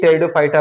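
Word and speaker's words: Pteridophyta: उसे हम पी से लिखते हैं लेकिन पढ़ते हैं टी से। देखिए ये एक टेरिडोफाइटा प्लांट्स का यहाँ स्ट्रक्चर है। ये हमने पी से लिखा है लेकिन पढ़ेंगे टी से क्योंकि पी साइलेंट है।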